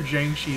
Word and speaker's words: Jiangshi: I feel like we are mispronouncing it, but I'm pretty sure Jiangshi is the correct way to say it.